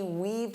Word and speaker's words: weave: For example, she weaved through the crowded mall. So, she had to walk like this to avoid the people. Now, notice that pronunciation. Weave. Eve. Weave. Don't confuse this with wave. Wave.